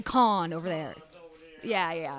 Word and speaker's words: Cannes: Cannes. Con. I always feel weird saying con because it sounds like a con, like.